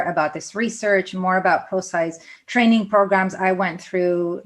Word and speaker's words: Prosci: So the name of the company is Prosci, Prosci. You pronounced it perfectly. It gets pronounced Prosci quite a bit, but it's actually a contraction of professional and science. So that's where you get the pro and the sci.